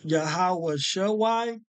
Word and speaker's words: Yahawashi: going to narrow down the correct name from yahawah Shai and the other variant yahawah Shai without the